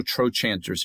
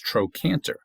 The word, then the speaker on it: trochanter: This word right below me here, tro, there's no trochanters here. There's no chanting going on. That's not trochanter. That's troanter. Right?